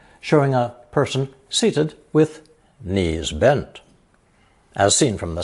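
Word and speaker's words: 尼: down into a ravine this character is pronounced second tone knee and is usually reserved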